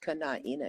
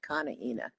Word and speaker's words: Kana'ina: It is actually pronounced Kana'ina. It's not Kana'ina.